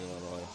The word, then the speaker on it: Illinois: He's from Illinois. The S is silent in Illinois.